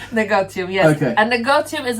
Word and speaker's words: Negotium: However, I spell apostrophe A to put a little twist on it, so you can pronounce it, comma, Negotium. Negotium, yes.